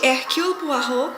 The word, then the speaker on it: Hercule Poirot: E quando o brilhante Hercule Poirot, cujo nome é pronunciado mais ou menos assim, finalmente elucida o